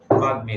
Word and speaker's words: বাগ্মী: যেমন উদাহরণ দেখো, বাগ্মী, গয়ের সাথে যখন আছে, গয়ের সাথে যখন ম আছে, ময়ের উচ্চারণ হবে বাগ্মী।